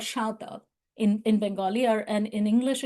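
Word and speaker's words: সাঁওতাল: So these people are called Shautal in Bengali, and in English, if you see their name, they're written as Santal, Santhal, but in Bengali, we pronounce them as Shautal.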